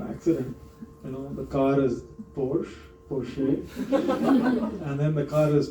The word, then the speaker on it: Porsche: Porsche. The E is Okay. silent a little bit. Porsche. Porsche. Okay. The So- sh is there, the E sound is there, but it's very subtle.